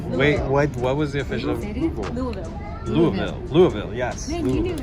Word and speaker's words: Louisville: Louisville. Yes. Man, you knew how to pronounce it correctly.